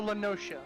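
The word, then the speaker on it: La Noscea: Laos noia Yeah okay or lenosa I've heard I've heard both I've heard both I believe most people call lenosa does it not come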